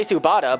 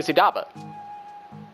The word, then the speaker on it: Sudaba: I want to say Subata, but it's actually Sudaba.